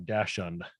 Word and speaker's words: dachshund: spelling of dachshund or i hate the pronunciation of dashand you don't have to say it that way well anyway it's peeing